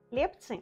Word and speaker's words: хлебцы: Хлебцы, кстати, правильно говорить именно хлебцы, а не хлебцы, ударение ставится на первый слог.